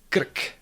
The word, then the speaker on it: krk: That it is not a vowel is actually true for some normal or common Czech words, like for example, krk, krk, that's throat or neck.